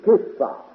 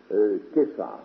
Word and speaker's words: Céphas: Tu es Simon, fils de Jonas, tu seras appelé Céphas ou Képhas. Ça devrait se prononcer en araméen Képhas.